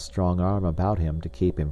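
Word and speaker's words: arbre: in the same way he was taught to pronounce ape San and tree AR he was a most eager student and in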